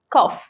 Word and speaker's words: cough: cough see it is cough it's not cuff it's cough k-a-w-s-w-f is correct pronunciation that is k-a-w-f cough right is cough